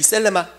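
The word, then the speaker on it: θέλημα: 하나는 블레마라는 단어이고요, 하나는 셀레마라는 단어인데, 이 셀레마, 이 th 번데기 발음이에요.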